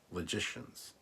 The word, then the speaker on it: logicians: Logicians pronounced like magicians. Magicians. Logicians. Logicians. That's better. Like magician, but logic instead of magic.